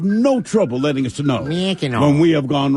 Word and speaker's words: Mackinac: Well, someone says Thrill needs to look up how to actually pronounce Mackinac. It's Mackinac. Now, see, here's the thing. This is one thing I know to be true. Mackinac.